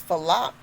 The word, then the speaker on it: Falaq: My birth name was Falak. It's spelled Falaq.